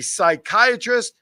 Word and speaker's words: psychiatrist: Why can't you hear a psychiatrist use the bathroom? I'm laughing on the inside because I know the punchline. I can't even go for it. What? No. Yes, I do. Because the P is silent.